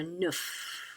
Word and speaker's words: neuf: So neuf, we pronounce the F.